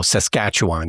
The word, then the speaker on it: Saskatchewan: no I can't but for future reference it's emphasis on the second syllable and you just let everything else just go Saskatchewan you just let just